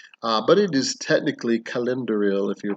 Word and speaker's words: Celendoril: want to pronounce it cylinderil or celandoral or even calendural if you're doing the hard c which is actually what it's supposed to be uh but technically the pronunciation is calendering uh although calendar